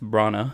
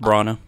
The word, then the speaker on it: Branagh: So then we have Shakespearean actor himself, Kenneth Branagh, who plays Sator, and then we have Michael Caine for a whole 10 seconds, who plays Crosby.